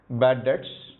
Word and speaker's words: debts: So I can write here bad debts, estimated bad debts. It is pronounced as bad debts. The B is silent here.